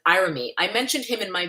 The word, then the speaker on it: Irami: Another YouTuber, Irami, or actually he pronounced it Irami.